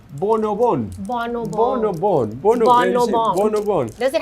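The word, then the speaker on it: Bon o Bon: Yeah, we call bonobon.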